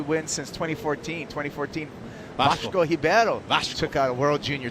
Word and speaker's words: Ribeiro: So you're learning your Portuguese, how you don't pronounce the R when it's first in the Portuguese language. It becomes almost an H sound. Ribeiro, yeah.